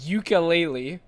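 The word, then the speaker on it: Yooka-Laylee: spiritual successor to Banjo-Kazooie it's called ukulele but it's spelled Yuka as in y o o k a dash laylee l-a-y-l-e-e that's so awesome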